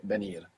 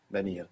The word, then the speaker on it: venir: Commonly, you would hear venir, venir, like a soft B.